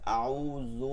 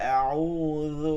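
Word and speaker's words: أعوذ: এই যে আউযু, দেখেন সবার একটা ভুল আছে, আউযু না, আউ যু যু, ইউরাটা এখানে লাগাইয়া আউযু বিল্লাহ, আউযু বিল্লাহ।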